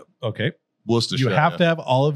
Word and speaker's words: Worcestershire: Sir, it's pronounced wash your sister. Okay. Worcestershire.